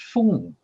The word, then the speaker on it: Feng: This is the standardized one, called pinyin by the Chinese government. So Feng, but it's also pronounced Feng or Feng, particularly in Hong Kong, or even Fen down in Indochina.